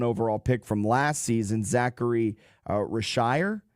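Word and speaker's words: Zaccharie Risacher: You have what you hope to be is your number one overall pick from last season Zachary Rashire I think is how you pronounce it. It's French.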